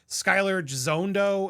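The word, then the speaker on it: Skyler Gisondo: Uh Jimmy Olsen is played by Skyler Jondo is how you say his name.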